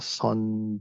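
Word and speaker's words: Seon: the Korea Dynasty uh this is uh pronounced in Korean son Jong okay who is he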